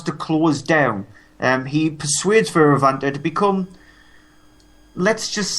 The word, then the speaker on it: Fioravante: That's his character in the film, Fioravante. It actually is pronounced like that.